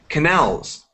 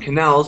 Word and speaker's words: canal: Canal, the stress is on the last A, and in channel, it's on the first syllable, on the first A.